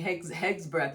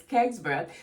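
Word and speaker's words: Hegseth: I was saying Heg's breath yesterday, and many of you were correcting me. Y'all was like, Pepe, if you go say it right, girl. It's I hear you. When you write, you write, right? It's Keg's breath.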